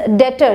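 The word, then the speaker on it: debtor: Next is डेटर। यहाँ B silent होता है, डेप्टर नहीं पढ़ेंगे, डेटर।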